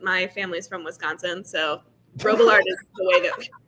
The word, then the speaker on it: Robillard: That Holy is, and by how you're supposed to pronounce it, I mean like how they pronounce it in France, but my family's from Wisconsin, so Robillard is the way that we pronounce it.